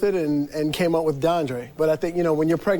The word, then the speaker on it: Dondre: but the name, it's Dondre. Yes. Spell that for me. It's D-O... D-O-N-D-R-E. Right. And there's an accent over the E. An accent on your name is an A sound.